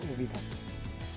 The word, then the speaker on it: অভিধান: উদাহরণস্বরূপ বলা যায় অবিধান। এখানে অ এর উচ্চারণ উ এর মতো হচ্ছে অভিধান। আমরা অভিধান না বলে বলি অভিধান।